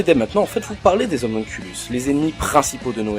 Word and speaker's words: homunculus: Et dans Fullmetal Alchemist, les homunculus, qui là sont prononcés en latin d'une part pour différencier et d'autre part car dans le manga on dit homunculus.